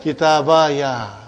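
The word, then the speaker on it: كِتَابِيَ: We give it a fatha. So how will you pronounce now? Kitabaya. What will you say? Kitabaya. Are you with me, Sister Sukhaina? I will say Kitaba and then ya.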